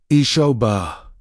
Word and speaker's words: Isabel: Fisher pronounced itshoba.